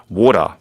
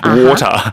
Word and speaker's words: water: the a um the the pronunciation with the t is kind of strong in my opinion and the ter is